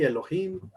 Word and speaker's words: Elohim: se llama elohim y aquí nos dice la pronunciación es así elohim es plural en un sentido como una definición